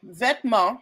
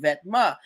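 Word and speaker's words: Vetements: Uh, if you didn't know, Vetma Vetma, it's okay. The word is pronounced Vetma.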